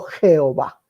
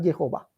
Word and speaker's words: Jehová: Por la I alargada que se pronuncia como J, quedó Jehová.